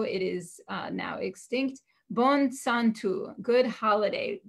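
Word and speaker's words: יום טוב: Bon Santo, good holiday. And Santo is actually the word Yom Tov, because the Y is pronounced S in Judeo-Provençal.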